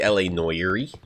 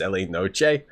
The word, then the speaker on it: L.A. Noire: Yeah, we can play L.A. Noire.